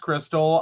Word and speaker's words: KRXSTXL: Confused, the name is pronounced Crystal.